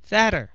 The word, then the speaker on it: fatter: Fatter là mập hơn.